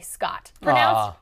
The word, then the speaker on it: Scott: Missing you guys already, Scott. Pronounced like hot, but with an SC instead of an H.